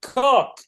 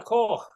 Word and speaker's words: Coch: I cycled all the way to, I can never pronounce this right, to Castle Cog. How do I say it, Taffy? It's not cock.